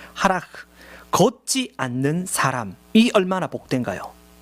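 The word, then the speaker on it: הלך: 하라크, 현대 히브리어에서는 하라흐라고 발음해요. 하라흐, 걷지 않는 사람이 얼마나 복된가요?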